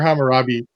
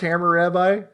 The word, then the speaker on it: Hammurabi: because I like pronounced like hammer rabbi or Hammurabi times are pronounced hammer rabbi no that's all kills for I like California I shout out to mr.